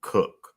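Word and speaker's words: Koch: But um the I know I suck with pronouncing names, but I'm going to say um Cook.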